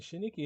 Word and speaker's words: Chineke: I'm talking about the Shiniki Orchestra, and Shiniki is spelled Chineke.